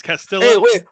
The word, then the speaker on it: Castillo: Did you see Luis Castillo or Castillo? I mean, how do you pronounce? I'm just a country boy down here in Texas. So what is it? It's Castillo.